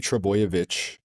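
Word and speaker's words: Trbojević: Oh, like there's 3 Trebojevic.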